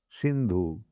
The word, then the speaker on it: Sindhu: Hindu means there is one river, Sindhu. The Mohammedans, they pronounce Sa as Ho.